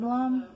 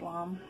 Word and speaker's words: lame: It's called a bread lom. It's spelled lame, but I think it's pronounced lom.